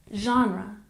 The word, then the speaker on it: genre: We stress the first syllable, genre, genre.